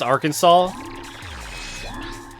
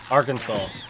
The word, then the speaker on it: Arkansas: how do you pronounce Arkansas Arkansas don't say Aransas like you got to do non-american states if you want me to pronounce them wrong Ares interesting yeah it's just Arkansas don't ask me why I'm not from the